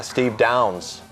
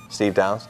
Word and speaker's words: Steve Downes: Master Chief what yeah Steve Downes is that how you say it yeah I like how his name is spelled do wnes Ness yeah Steve Downes so anyway we're gonna